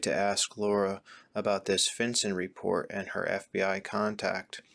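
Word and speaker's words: FinCEN: for suspicious activity and a finson report that's spelled f Cen which stands for financial crimes enforcement Network and is part of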